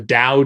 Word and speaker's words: Tao: so doubt it which it's pronounced Dao but sometimes spelled the T and it's short it's